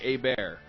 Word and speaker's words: Hebert: Hey Bear. It's Hey Bear. Hey Bear. No H. No Just H. say Hey Bear. Little Quebecois.